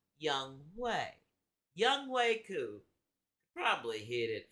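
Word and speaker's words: Younghoe: because I almost believe young way not young ho y'all it might be spelled young ho but it's pronounced young way young wayu probably hit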